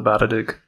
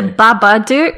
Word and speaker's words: Babadook: that we actually know it's not called the bad addict yes it's the babadook oh but we are